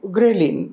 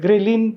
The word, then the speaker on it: ghrelin: so many other elements which balance it like ghrelin this is another hormone which is released in